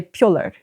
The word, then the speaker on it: pjöller: Yeah, so pjoller means being silly. Yeah. Kind of. Oh, I like that one. Or no, you say pjoller.